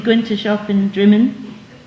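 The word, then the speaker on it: Drymen: And I had that kind of thing all the time, So you go into a shop in Drimmen, spelt dry men, but pronounced Drimmen.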